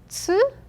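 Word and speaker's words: す: it is chi the third one is not to it is su next one is h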